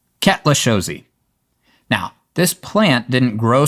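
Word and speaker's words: Cuetlaxochitl: To me that looks like it should be pronounced something like quaka chiddle but ketchosi.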